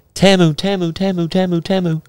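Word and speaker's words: Temu: it's t e m u t fck it's pronounced TAMU would be T muu it's TAMU I'm not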